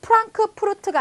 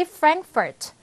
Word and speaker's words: Frankfurt: 자, 또는 프랑크푸르트가 아니고 다 같이 Frankfurt 이렇게 발음이 되지.